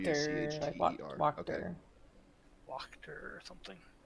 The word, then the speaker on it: Wachter: Oh, Oh, Wachter. Like W-C-H-T-E-R. Wachter. Okay. Wachter or something. It's most likely pronounced with the K based on the rest of the stuff.